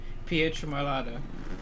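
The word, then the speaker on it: Pietramurata: And now I know how to pronounce that name. Pietramarata.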